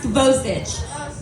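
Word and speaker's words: Kavasic: It's Kavastic or it's actually pronounced Kavosich, but we're gonna talk about the evolution of my name.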